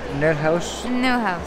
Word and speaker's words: Neuhaus: ¿Cómo se pronuncia? Neuhaus.